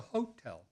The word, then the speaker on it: hotel: Sinclair and one bar locals referred to it as the hotel the reason for the emphasis on the first syllable is lost to history one reached it via